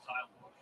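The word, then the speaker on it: Tylor: It was Tyler who decided that he wanted his name pronounced Tyler. His parents put the O in the name, but they originally pronounced it Pitch.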